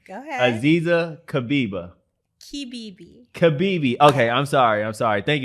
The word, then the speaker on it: Kibibi: I know you told me, so I'm glad I pronounced it right. So now I'm going to try the last name. Go ahead. Aziza Kibibi.